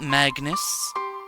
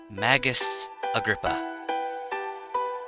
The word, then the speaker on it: Magus Agrippa: my name indeed is Magus Agrippa not Magnus not Magnus Agrabah it's Magus Agrippa felt like that was